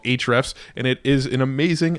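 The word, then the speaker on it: Ahrefs: we've canceled all others yeah that's true and it's spelled a h r FS it's called H refs and it is an amazing SEO tool that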